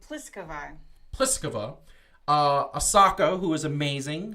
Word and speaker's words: Pliskova: I can never pronounce her. What's her name? Oh, it's Pliskova.